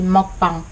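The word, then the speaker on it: 먹방: Juste un point, les mukbang. En fait, ça se dit pas du tout comme ça, vu qu'en fait c'est coréen à la base. Ça se dit mukbang.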